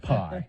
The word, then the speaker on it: pi: People insist that that's pronounced P. I don't care. It's pi. Pronounced pie. It's pie, okay? You want now us to take it seriously, you don't call it the P variant, No, okay? it's the pie variant if they go with Yeah.